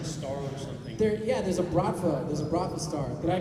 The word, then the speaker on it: Bratva: There's a Bratva star. Did I pronounce Bratva right?